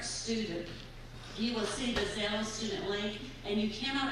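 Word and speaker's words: Xello: The junior high and high school have a career program called Zello, spelled like Jello, but with an X, X-E-L-L-O.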